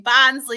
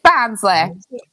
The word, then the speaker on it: Barnsley: You can take the mick out of me saying Barsley too. Ha. Barsley. It is Barnsley. It's the way I say it. I say it the same. Barsley. I go Barnsley.